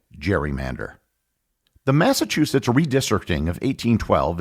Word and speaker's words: gerrymander: to say over time the pronunciation of Gary Mander evolved into the word we know today Jerry Mander the Massachusetts redistricting of